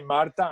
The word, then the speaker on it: Martha: And she write it with H, but in Spanish you don't pronounce the H. So you say Marta, and now, because I've been joking with Naida so often, now I say Martha all the time.